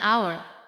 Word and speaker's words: hour: An hour. An honest person. Notice that I said vowel sound, not vowel letter. Hour begins with the letter H. But the H is silent.